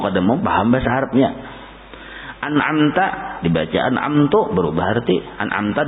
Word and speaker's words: an'amta: Harusnya an'amta dibacanya an'amtu.